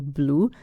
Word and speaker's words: blu: Yeah, I always give my students the example of the color blue. So we've got 2 words for blue in Italian. Blue, same pronunciation, for dark blue.